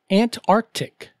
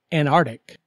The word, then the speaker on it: Antarctic: February word number two say aunt Arctic not Antarctic remember the C in the middle example zve in Explorer